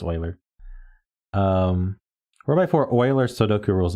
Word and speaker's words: Euler: this one's called 4x4 Euler thermos Sudoku by migu 4x4 Euler so Oiler I can't get over saying you where I know it's Oiler um 4x4 Euler Sudoku